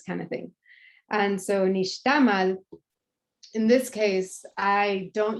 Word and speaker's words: nixtamal: so in Spanish, Castellano, we would say nixtamal, because there's an accented last vowel, which actually is incorrect. The correct pronunciation is nixtamal. So actually the Castellano people say, so Spanish speaking people just say nixtamal, but it's actually nixtamal.